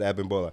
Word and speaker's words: Abimbola: They say it right. They never said Bim. They always said Abimbola.